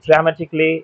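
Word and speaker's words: dramatically: বেসিকলি ড্রামেটিকলি এরকম।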